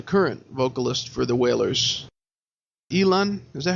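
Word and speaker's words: Elan: Elon? Is that how you say his name? Yes, Elon.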